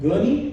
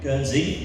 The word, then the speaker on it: Guernsey: But interestingly, you came from a small little town called Gurney. Am I pronouncing it right? Guernsey. Guernsey, yes.